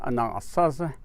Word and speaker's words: Anasazi: the name originally and those people we refer to as a non saucer or with the english-speaking tongue you would say Anasazi and those are the